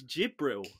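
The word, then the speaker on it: Djibril: for dribial see say can you just pronounce his first name for me again dribial dribble that it's j it's jibril do we do we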